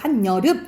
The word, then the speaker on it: 한여름: 앞에 받침이 있고 여 오잖아. 그러니까 니은 첨가 이뤄서 한여름 이렇게 발음 나는 거고, 이것도 마찬가지야.